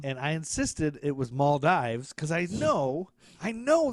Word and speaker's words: Maldives: back yeah and then I found 7,000 pronunciations saying maldiv I found a YouTube